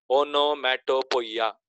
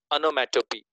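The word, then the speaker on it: onomatopoeia: ओनोमैटोपोइया नहीं होता है ऐसा, भयंकर मत प्रोनाउंस करो please, for God sake. It इज अनोमैटोपी.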